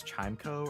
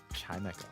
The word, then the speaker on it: Chimecho: Chimeco. According to James from the show. Well, you would like to think that in the show they're going to pronounce it correctly.